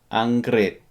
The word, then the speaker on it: อังกฤษ: However, it's pronounced America. อเมริกา Or if you say it fast, America. For England, Angrit.